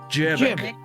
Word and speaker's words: Jebek: Jebek. You really have to pronounce the J. Jebek. Jebek. Am I getting it? Yeah. Exactly. Just like that. Like, damn it, but with a J.